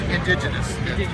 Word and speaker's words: Indiginus: me this is fantastic also how do you pronounce the name it's indigenous I spill everything wrong okay uh this is